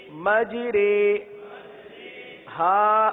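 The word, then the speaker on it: مَجْرٰىهَا: مجرے. ہا الف زبر ہا.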